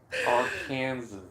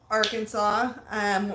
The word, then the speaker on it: Arkansas: Arkansas. So we are moving to Arkansas.